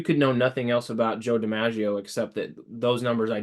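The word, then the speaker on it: Joe DiMaggio: back in the day I used to always pronounce it Joe de iio but uh I watched a documentary on him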